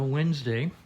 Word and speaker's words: Wednesday: well good morning it's uh Wednesday which is spelled wedes day for some interesting reason it's uh 9:20 I'm